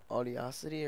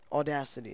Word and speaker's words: Audacity: and uh is a is a audiocity or what is it how is it pronounced audacity that's how it's pronounced yeah is that recording